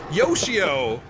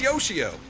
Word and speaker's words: Yoshio: you say his name Yoshio it's like Yoshi with an O it's Yoshio yo she already has two